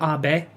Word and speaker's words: Abe: minister shinzo abe not abe not abe like abe lincoln but ah bae ah bae it's two syllables well he's dead man